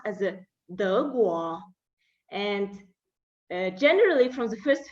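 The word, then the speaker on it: 德国: Germany pronounced as a De Guo.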